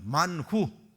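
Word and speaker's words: מן הוא: 자, 만후. 다 같이 만후. 원래 히브리어는 만후예요. 근데 영어 발음하는 사람이 만후하다 만나가 돼버린 거예요.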